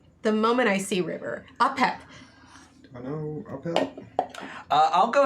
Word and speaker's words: Apep: Apep. How do I spell that? A-P-E-P.